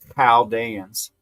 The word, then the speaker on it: Chaldeans: And if that was a question, it's Chaldeans.